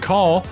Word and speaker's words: Call: tips and tricks girl named call kind of like roll call or backing call like rock and roll